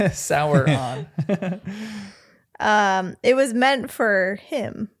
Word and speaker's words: Sauron: Sauron. Yeah. Sauron. Sour. sour on.